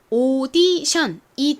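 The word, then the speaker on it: audition: 자 그리고 뒷부분을 보면요 tion 이거를 하나하나 이렇게 소리를 내게 되면 t에 t 읍 아이의 늄 티온 이렇게 분석이 되는데요 요렇게 읽으시면 안 되고 사실 tion은 한 덩어리로써 발음이납니다 어떤 발음이 나냐면 요렇게 발음이나요 이렇게 덩어리로 소리가 나는 덩어리 소리 단위들이 몇 개가 있는데요 이거는 저희 다음 시간에 제가 또 싹 모아서 알려드릴게요 자이 단어 읽어보면 오디션이 됩니다 오디션이라는 말 많이 들어보셨죠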